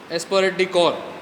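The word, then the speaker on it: esprit de corps: And then is aspirate decor. It is a concept. Aspirate decor. The P is silent here. Aspirate decor is a concept that recommends that all employees should work in unity with one another.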